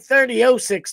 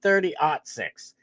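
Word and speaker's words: 30-06: Especially compared to me, cuz that looks like 3006 to me, but I guess you pronounce it 306. I guess you ought to say o six instead of 06.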